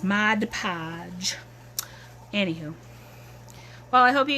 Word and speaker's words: Mod Podge: to cover up my Modge Podge because the stuff can get kind of smelly see and I still pronounce it wrong even though I know how to say it it's Mod Podge anyhoo well I hope